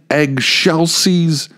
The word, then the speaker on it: excelsis: And he'd go, "You got to say it like this, in Excelsis Deo, eggshells."